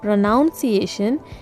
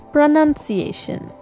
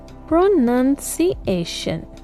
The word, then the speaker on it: pronunciation: This word here is not pronunciation. It's pronunciation. Pronuniation.